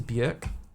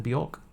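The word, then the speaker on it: Björk: I I believe that her name is pronounced to Burk rather than Bork.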